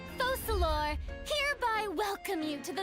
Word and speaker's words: Focalor: I, Focalor, hereby welcome you to the nation of Hydro Oh, it's and acknowledge the value and I've always pronounced it wrong. I thought it was Focalors.